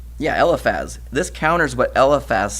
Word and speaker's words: Eliphaz: And this counters what Eliphaz, how do you pronounce his name? Yeah, Eliphaz.